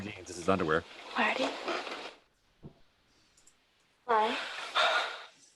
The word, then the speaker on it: Klein: Klein. Klein. It's one syllable.